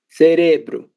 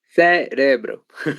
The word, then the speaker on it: cérebro: Cerebro. Novamente, Mário. Cérebro. Isso, perfeito. Agora sim. Cérebro, cérebro, certo? Veja que ela tem como sílaba tônica a sílaba sé, né? Um pouquinho diferente aí do espanhol.